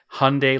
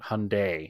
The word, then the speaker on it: Hyundai: and the commercial was hyundai like sunday ah so yeah he